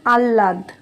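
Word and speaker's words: আহ্লাদ: যায় ম্লান তারপরেরটা আছে আহাদ হ এর নিচে যদি ল বসানো হয়ে যায় তাহলে উচ্চারণ হয়ে যাবে আল্লাদ পাবন প এর নিচে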